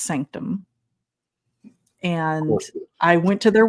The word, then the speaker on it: SNCTM: But it's spelled SNCTM. It's pronounced sanctum.